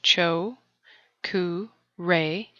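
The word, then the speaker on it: Cho Ku Rei: the first Reiki symbol choku Ray the first symbol is the choku ray pronounced Cho re and means placing all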